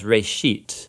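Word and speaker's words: בראשית: of it's called Genesis Genesis comes from a Hebrew word it's pronounced for a sheet and it just means beginning now there's a lot of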